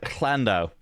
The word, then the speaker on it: Llandow: I'm looking at the pronunciation guide. Llandow.